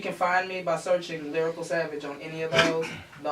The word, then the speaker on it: Lyrykal Savage: It's Lyrykal Savage. I say that one more time, because, you know, I didn't spell it right.